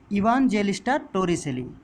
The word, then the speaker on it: Evangelista Torricelli: Okay, his name is, see, it is given, it is pronounced as see, let me pronounce it. His name is Evangelista Torricelli.